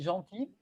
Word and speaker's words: gentil: génial et après juste il y a le gentil on prononce pas les ailes à la maison du jardin je suis gentil et à la fin